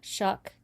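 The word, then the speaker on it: Shough: pronounce it right Shuck.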